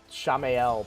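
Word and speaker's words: Shamael: used to run n Shamil or arrisia Shamil and Shamil would free my uh arrisia so I I'm I I love him I know it's shameel but I just it's too many syllables I don't I can't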